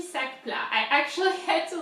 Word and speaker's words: sac: Sac in French is bag. sac. The C is the thing that you pronounce, is the thing that you put the most emphasis on.